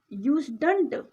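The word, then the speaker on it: usedn't: यहाँ पर हमें यूज्ड टू का नेगेटिव लेना होगा, यूज्डंट, इसे हम प्रोनाउंस करते हैं यूज्डंट, और ही के लिए यहाँ पर ही आएगा, यूज्डंट ही, क्या नहीं।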